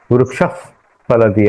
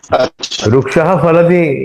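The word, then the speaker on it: वृक्षः फलति: नहीं नहीं ऐसा नहीं वो फास्ट में कर दे वृक्ष फलति ऐसा उच्चारण कर सकते हैं वृक्ष फलति इस एक्चुअली वृक्ष फलति ऐसा ही उच्चारण करना है क्योंकि वो लोप नहीं हो रहा है उसमें कुछ बदलाव नहीं आ रहा है लेकिन उच्चारण करने के लिए मतलब नॉर्मल करने के लिए रुक्षति ऐसा भी कर सकते हैं एज एन ऑप्शन इसलिए उसका उपदमानीय और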